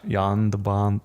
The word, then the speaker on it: Jan de Bont: in the background is Yan de Bont the cinematographer - I think I'm learning that you're saying his name wrong it's Jan de Bont yonder bum John Jam yeah just